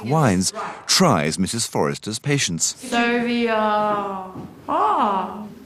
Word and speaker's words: Sauvignon: Sauvignon. Ah. Now, really open your mouth and say it. Come on, because this is Sauvignon.